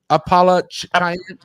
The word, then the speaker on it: Appalachian: Appalachian. Appalachian. That's from my neck of the woods. Say it again. Yeah. Say it again. Appalachian. Yeah. Where I grew up in Utah, we said Appalachian, but my wife grew up in Virginia.